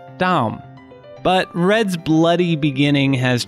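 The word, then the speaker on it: דם: For example, red in Hebrew looks like this, and it's pronounced Adom, while blood looks like this, and is pronounced Dam.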